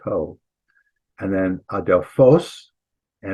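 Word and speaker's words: ὁ: It does have a breathing mark, so it's ho, pronounced ho.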